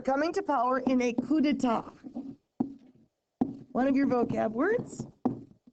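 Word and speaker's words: coup d'état: of course for coming to power in a cud one of your vocab words looks like coup deat c o u p d e t a t it's pronounced cud AUD is basically overthrowing the government now that's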